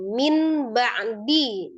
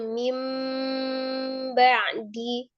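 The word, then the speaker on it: مِنْ بَعْدِ: Dibacanya mim ba'di. Nah, itu ada tandanya biasanya ada huruf mim kecil ya di antara nun sukun atau tanwin dengan huruf bnya. Situ ada tanda mim kecil. mim ba'di. Jadi dibacanya dirubah dari minim ditahan disertai dengan dengung.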